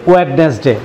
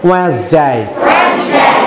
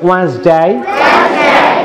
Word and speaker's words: Wednesday: ওয়েডনেসডে। কি বলি আমরা? সম্পূর্ণ ভুল উচ্চারণ। আমার সঙ্গে আজকে শিখো WEDNESDAY। আমরা ডি থাকবে সাইলেন্ট লেটার, ডি কি থাকবে?